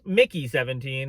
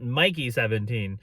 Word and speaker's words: Mickey 17: Today we are finally reviewing Mickey 17, and yes, I can confirm that it's pronounced Mickey 17 and not Mikey 17.